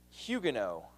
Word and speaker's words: Huguenots: In France, the Protestants there are called Huguenots, spelled Huguenots, but pronounced Huguenot.